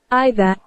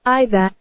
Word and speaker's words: either: Okay, so in the British pronunciation, we heard Either. What do we heard? Either. We listen to the pronunciation as either, right? So what is the difference? That is either and either. These are both possible, okay? E-I-D-H-E-R can be either as well as either. So in British it's either. In American it is either.